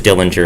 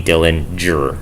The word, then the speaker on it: Dillinger: That G is pronounced as the J in jam, so I have to get the J in there somehow. So it can't be Dilling, or it has to be Dillinger, I think.